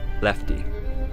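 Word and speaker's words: LEFTE: Blueprints were discovered, and one was titled L-E-F-T-E, pronouncing Lefty.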